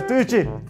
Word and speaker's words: Tuiuti: a gente vai para Tuiuti, como que se pronuncia isso? Tuiuti. A gente vai pra Tuiuti. É isso, professor. Tuiuti.